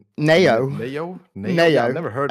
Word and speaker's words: Naowh: Nayo. Nayo? Nayo? Nayo. N A Y O. Yeah, that's how we pronounce it.